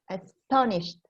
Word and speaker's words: astonished: i really wasn't expecting astonished the second syllable syllable syllable anna so can you